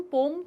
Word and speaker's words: poem: आज की जो हमारी पोएम है वो भी इसी के ऊपर है। पोएम, पोम कुछ भी बोल सकते हो, दोनों ही प्रोनाउंसिएशन एक्सेप्टेबल हैं।